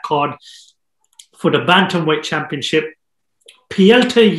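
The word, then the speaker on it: Petr: for the bantamweight championship pielte yan i think that's how the russians pronounce it i'm just going to call it yeah not peter no mercy and defends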